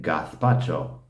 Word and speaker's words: gazpacho: were asking me, but if you're over in Spain, do you speak with the lisp? And I'm like, yeah, that's just correct pronunciation out there. It's not like I'm making some point to, I just, that's how you say it, gazpacho.